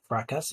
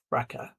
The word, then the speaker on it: fracas: Our next word is fracas. Some people might pronounce this fracas, but fracas. This is a noisy argument or disruption. The S at the end is silent, and you will often